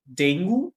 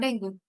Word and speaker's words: dengue: But yes, it's dengue. It's not dengue. And again, guess it goes back to our first language. They are used to pronouncing the words Mm, as they are written.